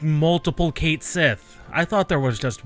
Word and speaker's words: Sith: It's always Sith. It's S-I-T-H.